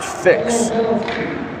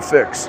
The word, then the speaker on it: Fyx: That's the spelling, but it's pronounced fix.